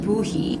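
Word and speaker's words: Bohea: like then I tasted bohia here it says that it's pronounced Boi this one had like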